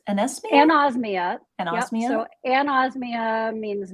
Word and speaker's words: anosmia: Pronounce that word, anosmia? Anosmia.